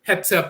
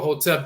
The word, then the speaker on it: Hotep: the term hotep but hetep or hotep dialectical variance of the same term and so forth there